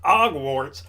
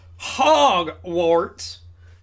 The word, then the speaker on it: Hogwarts: Not Hogwarts, Hogwarts. Because we pronounce the H here in America.